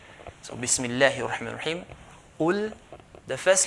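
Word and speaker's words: قل: So Qaf, we should not pronounce as Kaf or else the meaning will change. So Qul, Qul, I highlighted the heavy letter, okay, heavy letters in green.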